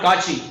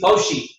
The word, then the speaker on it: Cauchy: Actually it is not Kachi. Okay, generally we pronounce just like Kachi, but no problem, he is not there, he is not alive, he don't feel, so you can pronounce him at any way. So but it is Cauchy.